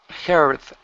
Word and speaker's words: heard: Heard. Okay. Move your tongue back. All right. So you're not pronouncing the Spanish D and saying heard. All right. It is heard, like the Spanish R, heard.